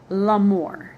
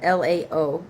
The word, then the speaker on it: Laomer: uh kings, these Kedor Laomer. Laomer Laomer Laomer K E D O R L A O, so that to me that's Lao, right? Kedor Laomer. M E R.